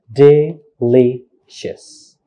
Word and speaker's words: delicious: the phonetic transcriptions it's delicious it's not delicious but delicious how many syllables delicious three syllables where is the stress delicious second syllables not the first like delicious or delicious delicious okay only seven letters